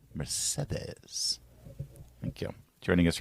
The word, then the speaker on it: Mercedes: Do you like the pronunciation, the soft D there? Mercedes.